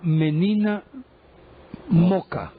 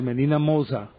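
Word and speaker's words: Menina Moça: Eso se llama Menina Moca, o Menina Moza, pues, en portugués, Menina Moza. Pues se escribe Menina Moca, y es de un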